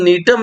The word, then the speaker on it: Gnetum: ध्यान दीजिएगा बच्चों, केवल नीटम एक ऐसा जिम्नोस्पर्म है, जी साइलेंट है, GNETUM, केवल नीटम एक ऐसा जिम्नोस्पर्म्स